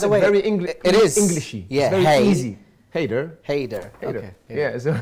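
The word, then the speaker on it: Hayder: how did you how did you choose to spell it which makes it very englishy very easy Hater Hater yeah so it's really really easy for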